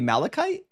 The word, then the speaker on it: malachite: Oh, that's supposed to be Malikite.